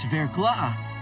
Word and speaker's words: verglas: That word basically means thin ice, but it's pronounced verglas.